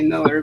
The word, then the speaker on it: Millar: I've heard him himself say Miller, but it's spelled like Millar. But I would think Millar because it's an A, but I guess he's been corrected to it's Miller.